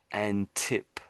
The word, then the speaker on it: Antipodeans: has the meaning, but we don't say it that way. The way we say it is antipodans.